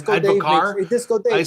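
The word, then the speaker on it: advocaat: I've been told many times that it's pronounced advocar. Disco Dave, I say advocat.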